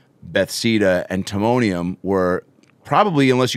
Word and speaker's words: Bethesda: Definitely from Bethesda. Is that how you pronounce it? Yes, exactly. Bethesda, Pennsylvania.